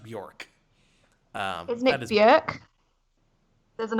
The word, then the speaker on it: Björk: She did something, and so I wrote the script, and the newscaster she was going to read it, and she pronounced it Bajork.